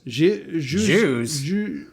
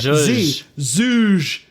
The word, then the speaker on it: zhuzh: Is it Jews? Jews. Not Jews. Zhuzh. Zhuzh it up.